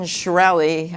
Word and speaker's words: Shkreli: was this good person it's not just Martin shkreli I memorized it belly and then I forgot